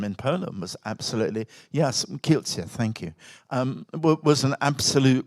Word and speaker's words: Kielce: And the sense actually that, and of course the Kielce, I'm not pronouncing it right, pogrom in Poland was absolutely, yes, Kielce, thank you, was an absolute revival of the blood libel.